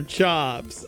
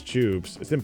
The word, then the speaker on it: choops: Is it choops or chops? How can you not miss? It's impossible to mispronounce choops. It's literally impossible.